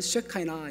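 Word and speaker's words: שכינה: 이야기합니다 영어로서는 나라고 이야기하고 히브리어 원의 발음은 쉐카이나 있니다 그래서 괜찮습니다 세키나 해도 괜찮고 쉐카이나 해도 괜찮습니다 하나님의 영광이 언제 했냐면 출애굽기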